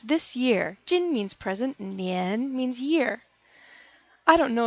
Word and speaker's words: 年: use this movie, but if anyone remembers the nian cat, if you don't ask me and I'll show you the link, is a good way to remember how to pronounce year. Nian, jinnian.